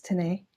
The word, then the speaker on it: Tinnei: So today I'm joined by Tinnei. Is that how you pronounce it? Am I pronouncing it right? Yes, Tinnei.